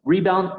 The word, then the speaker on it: rebound: la sílaba tónica Perdón siempre la primera la del re en este caso rebound recreen res y si